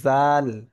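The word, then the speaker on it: ذال: আচ্ছা, এই দালের উপরে যখন একটা নোক্তা আসবে তখন সেটা হবে জাল।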